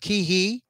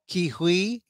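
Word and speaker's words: Ke Huy: get his name right I've heard it pronounced kihe kihui right uh and we talked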